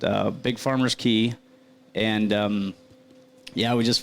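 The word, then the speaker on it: cay: sorry what is that well they call them Keys just because they're little Islands I guess kind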